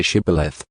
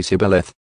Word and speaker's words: shibboleth: tell him to say shibboleth if he was from afraim he would say sibaleth because people from a frame cannot pronounce the word correctly then they would take